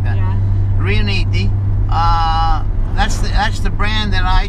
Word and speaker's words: Riunite: I said, well, let's even though people can't pronounce it because everybody's saying Reunite and stuff like that. Yeah. Riuniti, that's the brand that I chose as the brand.